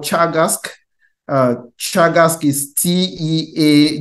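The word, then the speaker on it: Teagasc: the Irish Agriculture and food Development Authority called Chagas uh Chagas is TE a g a s c but we pronounce it as Chagas instead of task and so they have if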